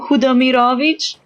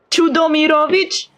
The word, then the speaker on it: Chudomirovich: You know, he has the second name Hudomirovich. The voice actor pronounced it with ch at the start. And I'm like, no, this is not how it sounds. This is not how you say it. Chudomirovich?